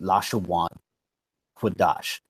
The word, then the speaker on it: לשון הקודש: And that phrase is Lashon Quadash, right? But that's the phrase that they use. They would pronounce it Lashawan Quadash.